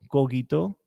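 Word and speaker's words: cogito: soy yo existo ego coquito ergo zoom el coito se lee como si hubiera una u después de la G y con acento en la o Eh egocógito ergosum bueno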